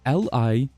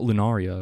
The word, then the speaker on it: Liurnia: What do you mean I'm saying it wrong? It's Liurnia. Liurnia. I just want to say Lunaria. It's not Lunaria at all, but that sounds way cooler.